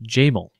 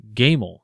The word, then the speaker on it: Jamel: the word for camel, Jamel. Egyptians have no soft J sound. When they answered Gamel, like their prototypes among the Ephraimites, they were slain at the passage of the Jordan.